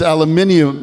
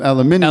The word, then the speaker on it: aluminium: it's a brand and if you're in England it's aluminium aluminium aluminium that's how my dad